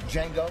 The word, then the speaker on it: Django: Django. D is silent.